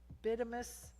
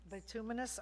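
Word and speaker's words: bituminous: This includes wash sand, stone, gravel, uh, latex, bitamus, how do you say it? Betuminous.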